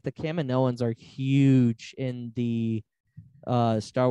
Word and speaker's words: Kaminoans: But the Kaminoans were very, very interlocked with everything that was going on during this period. So they're from Kamino. How do you say it? Is it Kaminoans? It's Kaminoans. Kaminoans.